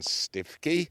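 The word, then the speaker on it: Stiffkey: And then there's Cly and Stifkey, or pronounced Stookie locally, where you can get wonderful cockles there called Stookie Blues because of the colour of the mud.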